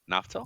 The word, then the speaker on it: Naftal: How do you pronounce your last name, sir? Ntel. Yep. Naftal.